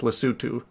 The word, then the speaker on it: Lesotho: See, I have a cousin who spent 2 years in South Africa, so he told me it's pronounced Lesotho.